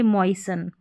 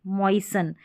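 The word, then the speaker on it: moisten: अब इसको भी मॉइस्टन नहीं पढ़ेंगे। इसको पढ़ेंगे मॉइससन। मॉइससन यानी कि टी यहां पर साइलेंट है।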